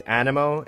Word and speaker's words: Anemo: how i say it i've been saying a nemo for so long and i know the proper way to say it is animo and i actually call